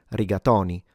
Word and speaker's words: rigatoni: But then again, there are a lot of people in Italy that do pronounce it with an open o and say riatoni.